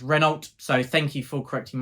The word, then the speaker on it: Renault: heaven by Mary Reynold I have been saying Mary Renault but someone comment saying it's pronounced rynal so thank you for correcting my pronunciation there